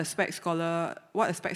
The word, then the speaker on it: SPEX: Being an athlete in Singapore, we actually have this thing called the SPEC scholarship. It's spelled as SPEX. SP stands for sports and EX stands for excellence. So together it's called the SPEC scholarship.